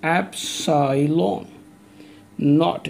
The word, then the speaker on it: epsilon naught: comes the medium this is Absolem on i pronounce this as epsilon naught and ough d not usually four zero epsilon